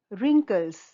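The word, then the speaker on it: wrinkles: शब्द dear children रिंकल्स रिंकल्स व यहां पर साइलेंट है रिंकल्स झुर्रियां माय ग्रैंडमदर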